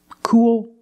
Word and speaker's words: cool: Cool, pool, tool, and fool. You see the same spelling, double O plus L, and the same pronunciation. is the long ooh sound plus the dark L.